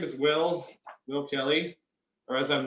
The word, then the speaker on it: Will: redneck as they say my name is two syllables someone said hey boy oh yeah that's that's how i spell it i'm glad you pronounced it correctly uh but by the